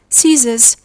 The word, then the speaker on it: scissors: We say scenario, scene, scenery, scent, science, scissors, muscle, descent, fascinate, discipline, crescent. The C is silent after the S letter.